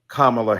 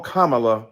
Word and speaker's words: Kamala: insisted upon misnaming mispronouncing kamla Harris do you call Melania Melania do you call Ivanka Ivanka then call Kamala Kamala then call vice president